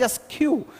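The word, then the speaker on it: askew: what is as Q its pronunciation is as Q as Q means what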